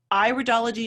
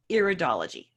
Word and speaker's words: iridology: alright iridology it's pronounced iridology not iridology all right and we iridology it's the iris of the eye it's not the ear so its iridology so